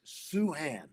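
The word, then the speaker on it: Sochan: you know so uh jeremy told me today it's suhan suhan jeremy suhan and by the way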